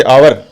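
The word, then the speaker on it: hour: इसी तरह से आवर एच ओ यू आर, इसमें एच साइलेंट है तो किसकी ध्वनि आएगी?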